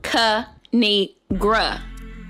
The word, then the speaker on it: Kinigra: yeah I bet it's up y'all three is pronounced kanigra now subscribe crack myself up thanks for watching